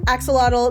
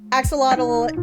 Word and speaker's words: axolotl: That's not really how you're supposed to pronounce it. Axolotl is just easier for Americans to pronounce. It's actually pronounced axolotl. Okay. Because the X kind of has like a sh sound.